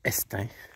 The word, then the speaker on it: Estaing: Le village, en fait c'est Estaing qui se prononce, le village d'Estaing.